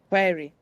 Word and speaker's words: very: Make sure the vowel is short in the first syllable, which means that you need to get to the second syllable quickly.